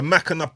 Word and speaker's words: Mcenuff: Come on, the Mackinac brothers are in there. Am I saying it right? You are, bro. Yeah. Spot on, Mackinac you know.